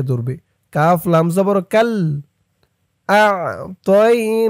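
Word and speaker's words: أَعْطَيْنَا: আ তয়া জবর তই, তই আ তই। অনেকে বলে ইন্না আ তাই বলে, আ তাই বললে কিন্তু এই তর উচ্চারণটা হয় না, বলতে হবে তই, আ তই।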